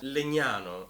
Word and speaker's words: Legnano: In the Italian language, this is g, and this is n. It's a kind of n. And together it's not gn, it's gn. So Legnano, okay?